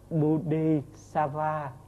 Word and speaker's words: Bodhisattva: Bồ Tát thì chữ Bồ Tát nguyên âm của tiếng Phạn là Bodhisattva, mình đọc theo tiếng Trung Hoa phát âm thì nó là Bồ Tát hay là Bồ Đề Tát Đỏa.